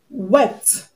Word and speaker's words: wept: And when a word has the last sound as a voiceless consonant, I'm going to pronounce the past tense marker as what? T. T. So we have stopped, which is the correct answer. We have wept, wept, and stopped. The two of them have the t sound at the end. We have t in wept and t in stopped. Now let's see another question